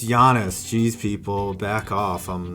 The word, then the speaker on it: Giannis: I know it's Giannis.